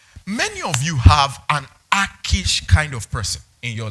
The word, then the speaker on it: Achish: Pronounced Achish.